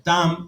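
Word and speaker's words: תָּם: idioma original por ejemplo perfecto significa o se pronuncia tan en hebreo que significa completo también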